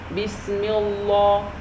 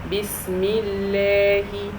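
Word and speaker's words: بسم الله: So if I have kasra, letter with kasra underneath, and then I have the word Allah, so in this case, I don't pronounce it Allah, I pronounce it Allah, Allah. So how do I say it? It is Bismillahi, Bismillahi.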